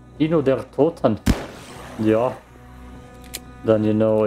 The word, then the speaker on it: Kino der Toten: If you run Kino der Toten a lot of times. Did I just pronounce it English? Kino der Toten.